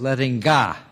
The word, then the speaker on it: Lettinga: pronounce his first name he said i'm frisian and in frisian we say he later told me that in frisian they say is letting god he went on to